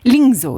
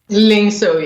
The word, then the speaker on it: Lyngsø: I think I mispronounced your surname. Lingo. Is that right? Lingso. Yeah. Yeah. In Danish, it's actually Lu and I have to pronounce.